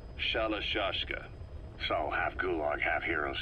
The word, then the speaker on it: Shalashaska: The guerrillas were using the name amongst themselves, and by the time I got to hearing about it, the pronunciation had wound up as Shalashashka.